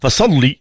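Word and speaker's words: فَصَلِّ: ان شانئك هو الابتر هذك الشده تم ك الامال فصلي هكذا تنطق فصلي لربك واضح لان القران الكريم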